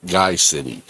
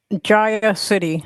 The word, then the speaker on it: Gaia City: Is it Gaia City or is it Guy City? Gaia City, like it's sort of short for giant.